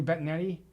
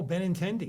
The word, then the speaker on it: Benintendi: I don't even know how to pronounce his name. Andrew Bettinetti. Oh, Benintendi.